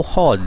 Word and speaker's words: HODL: Yang ketiga teman-teman yaitu hold ya. Bacanya ditulisnya HODL ya, hold ya.